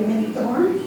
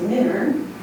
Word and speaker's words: Minturn: He was called into service in the militia under Captain John Minturn, and a family member corrected me that that is the correct way to say Minthorn or Minturn. It's not, it's Minturn.